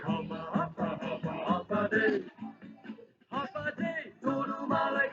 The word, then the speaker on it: Hafa Adai: Just pronounce it as in half a day. Sing it with a beat and say it every day. Like Hafa, Hafa, Hafa, Hafa Day.